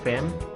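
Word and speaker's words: femme: tapi ini kita bacanya Harusnya kalau aturan umum normalnya Fame karena ini pengecualian jadi ini bacanya fam kemudian gaz ini contoh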